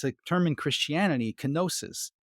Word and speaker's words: kenosis: a term in Christianity kenosis or kenesis as I think is pronounced kenesis is the act by